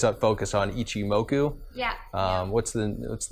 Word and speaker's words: Ichimoku: Is your education, does it revolve around Ichimoku? And is that how you pronounce it?